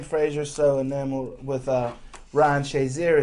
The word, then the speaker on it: Shazier: I think the reason why Jim Frazier's so enamored with Ryan Shazier is Shazier kind of rhymes with Frazier in his mind.